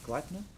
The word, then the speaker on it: Gleipnir: I think that's how you say it, Gleipnir? Still a bit away. Oh yeah, that's correct.